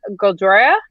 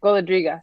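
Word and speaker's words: Golodryga: And then we have on Wednesday, Biana Goldroiga. Okay, Goladriga. Sorry, Goladriga. Wow. Many more of those letters pronounced than I thought there were.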